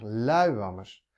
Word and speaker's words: luiwammes: luiwammes of ik ze zeg ik luiwammes of zeg ik langzaam s nee ik zeg luiwammes de klemtoon zit niet op die laatste s nou dan komt er